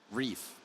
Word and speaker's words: Reef: That Wreath there, so that is Reef. It is Reef. I said it right the first time. Yes, it's a reef, not a wreath.